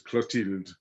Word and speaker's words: Clotilde: Yeah, so the TH isn't th as Okay. in normal, it's Clotilde.